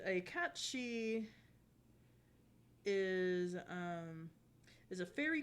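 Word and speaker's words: Cait Sith: Fantasy 7 character who most people will call Kate Sith but it's actually supposed to be pronounced catchy and apparently that's based off of the same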